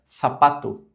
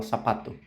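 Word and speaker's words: zapato: letra C como esse som assim, que é o som do th. Sapato, sapato, sapato. Já na América Latina já não fala sapato, sapato, como um som de S normal.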